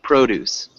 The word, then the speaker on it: produce: that word brothers first produce produce proud to like it yeah um so it's like a long o pro produce produce produce